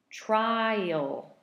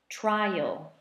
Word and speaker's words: trial: pronunciation for Hui Co trial trial 2 syllables trial who you come and eat those and little trail trail I walk on the trails alright and finally let's